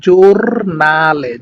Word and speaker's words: giornale: ওকে, তারপরে দেখেন জি ই এবং ও যদি একসাথে থাকে তাহলে উচ্চারণ হবে জো, মানে জৌকার জো, বর্গীয় জৌকার জো এর মতো একটা উচ্চারণ হবে, হ্যাঁ, জো মানে জোর নালে, জোর নালে মানে হচ্ছে মানে জার্নাল বা নিউজ, যেটা সংবাদপত্র যেটাকে বলে সেটা হচ্ছে জোরনালে, ইতালিয়ান ভাষা বলা হয় জোরনালে।